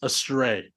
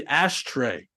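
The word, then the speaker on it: Astray: So many people could not pronounce a stray. Oh, really? What would they say? They kept on adding this Phantom H and would be Ashtay.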